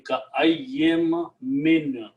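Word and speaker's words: كأين من: So the full pronunciation will be ka'ayyim min.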